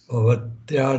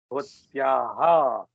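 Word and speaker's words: भवत्याः: Bhavatya nama kim? Bhavatyaha nama kim. Bhavatyaha. Visarga is there. Pronounce the Visarga properly.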